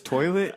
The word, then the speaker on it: Toylit: It's Toilet. They're like, Toilet? It's like, yeah, but it's spelled Toylit.